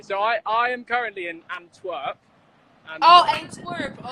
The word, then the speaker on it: Antwerp: So I am currently in Antwerp. Oh, Antwerp. Okay, you were mispronouncing it. That's why. Okay, I'm so sorry. How do you say? Antwerp. Antwerp. Antwerp. It's ANTWERP.